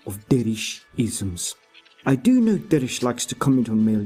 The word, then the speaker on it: Derich: Sawyer, it is Derich.